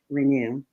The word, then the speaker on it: Renu: to hear about being in the kitchen with Renu. And I hope I pronounced that correctly.